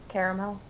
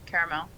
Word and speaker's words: caramel: And that word is, of course, the word that everybody agrees there is just two pronunciations of. My opinion is that there's a third pronunciation.